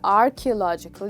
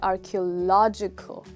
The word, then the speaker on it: archaeological: next time you say it you'll not say archaeological you'll say archaeological okay please repeat that after me archaeological okay